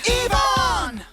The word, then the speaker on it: Yvonne: Yvonne. Okay, Okay, my auntie Yvonne is back. Now I know how to pronounce her name.